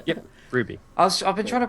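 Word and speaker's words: RWBY: you pronounce w r w y b y Ruby yep Ruby I've been trying to pronounce seal and like I've just been reading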